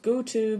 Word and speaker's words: GO2: the label go2 um I know it's pronounced go to but it's go2 for me so you